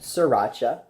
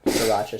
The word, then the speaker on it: Sriracha: It's spelled Sriracha. I pronounce it Sriracha.